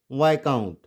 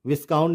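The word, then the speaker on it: viscount: नॉट डेब it's Debbie and नॉट क्या बोलेंगे वाय काउंट वाय काउंट ठीक है वाय काउंट विस काउंट नहीं वाय काउंट अप्रोपो अप्रोपो इसमें एस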